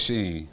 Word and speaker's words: SHEIN: I would only shop on SHEIN after a recommendation like that. I swear it's SHEIN.